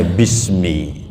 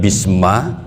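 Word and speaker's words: بِسْمِ: bnya adalah harfu Jar maka dibacanya Bismi tidak Bisma tidak bismu karena ada harfu Jar kata para ahli tata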